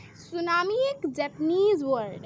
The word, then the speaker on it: tsunami: सुनामी एक Japanese word है. ये 2 वर्ड से मिलके बना है, सू प्लस नामी, एंड जिसका टी साइलेंट रहता है, जैसे ये सू प्लस नामी.